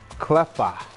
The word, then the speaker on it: Cleffa: It's pronounced Cleffa. Cleffa? Cleffa. Cleffa. I always thought it was Cleffa. It sounds like clever, like Cleffa.